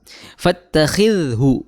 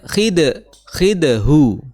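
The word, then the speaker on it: فَاتَّخِذْهُ: Nah, di sini kita perhatikan bahwa ada huruf dha yang bertitik, ya, khidhu, ya. Jangan sampai kita dibacanya khidhu, ya, karena di sana makhrajnya berbeda. Kalau dal yang tidak ada titiknya itu makhrajnya adalah di ujung lidah bertemu dengan pangkal gigi seri atas.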